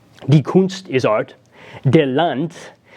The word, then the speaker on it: Land: kunst is Art De Land pronounced with the T sound at the End by the way rather than the land as an American English it's Delante is country the muta